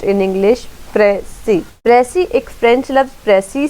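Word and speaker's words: précis: Definition: the word pressy is derived from the French pressy and is pronounced in English pressy.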